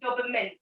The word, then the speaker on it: dopamine: national next word is it's dopamine it's not mine it's dopamine then it is not